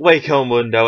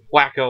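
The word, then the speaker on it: Hueco Mundo: but an actual fact that H is pronounced way as an English word way or for sense for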